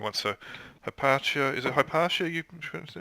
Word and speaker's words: Hypatia: So Hypatia, is it Hypatia you pronouncing it?